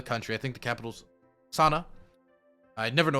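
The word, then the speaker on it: Sanaa: west of the country i think the capitals sana i never know how to pronounce it correctly let's make sure i'm right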